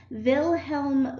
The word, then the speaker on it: Wilhelm: know that in 1879 Vilhelm vote he's German so you don't pronounce the double user you pronounce them with the V sound instead of the W sound so in 1879 at